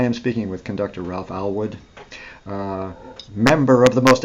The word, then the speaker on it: Allwood: Allwood, yes. Allwood. Oh yes, I must remember my pronunciations.